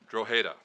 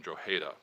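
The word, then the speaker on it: Drogheda: there's a town of around 40,000 plus called dreda though I think it would take a real Irishman or woman to pronounce that correctly it was a town that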